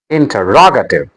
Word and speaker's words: interrogative: interrogative interrogative The stress is on ra.